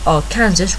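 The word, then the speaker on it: Arkansas: in that state now I hope I said AR Kansas right in Ilinois the law is that a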